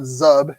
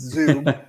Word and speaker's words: Zub: of zub because apparently we've been saying it wrong for since he was signed it's not zub it's zoom uh apparently but he's also